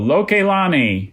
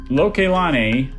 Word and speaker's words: Lokelani: Lokelani.